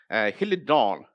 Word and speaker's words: Helidon: dawn and what he'll it don't actually ease he'll it dawn and it's in Greek means swallow and this is how it's spelt in Greek I know that there are